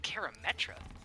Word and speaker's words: Karametra: Wait, Karametra? I think that's how you pronounce her name?